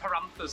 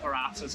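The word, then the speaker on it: paratha: against their religion so if you're wondering what paranthas are apparently they're called patas and I've been saying it wrong um but the my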